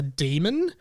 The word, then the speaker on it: Daemon: It's about this girl called Lyra, and she lives in an alternate world in which every human has a demon, which is spelled Daemon, a demon that is an animal.